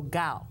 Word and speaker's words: Cao: last name is pronounced gal it's spelled c AO but it's pronounced like g w so gal gal gal is Congressman an Joseph